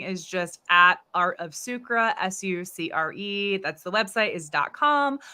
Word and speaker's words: Sucre: just at Art of sucra that was easy um uh also we forgot to touch on the the name how I pronounce it with the French you pronounce it Circa so I definitely gonna